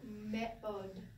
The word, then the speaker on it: me'od: You're doing the mem with the short eh. Me. Aleph is silent. You have the o. And then dalet. Da. So me'od.